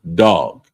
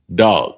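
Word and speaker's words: דג: So the next one is fish and it's pronounced dog. Um dog and it's spelled d a g but it's pronounced dog. I mean with a Baltimore accent.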